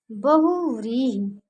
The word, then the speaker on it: बहुव्रीहि: आप लोग ध्यान से इसका उच्चारण करेंगे। शुद्ध क्या है? बहुव्रीहि।